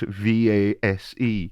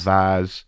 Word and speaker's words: vase: The one common in Britain and the one common in North America and Ireland as it happens.